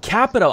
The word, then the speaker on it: Capito: back hey Mike and that's Shelley Moore Capito actually capital i've been pronouncing that wrong forever what everybody mispronounce is